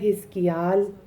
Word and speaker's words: حزقیل: Daniel بھی ہوتا ہے۔ حزقیل اللہ قوت عطا کرتا ہے، اور اس کا بھی ایک اور تلفظ ہے حزقیال۔ داؤد حبیب یا محبوب۔